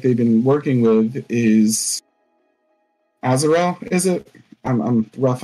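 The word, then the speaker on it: Aaravos: elf that like they've been working with is azarel is it I'm I'm rough on the pronunciation like Aros Aros thank you Aros is obviously got something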